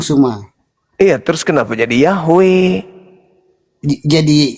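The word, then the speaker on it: Yahweh: Bang Suma itu bukan pengucapan yang e kurang tepat. Yang paling tepat pengucapannya itu Yahwe.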